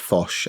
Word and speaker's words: Phosh: Yeah, it is pronounced Phosh, as in phone shell.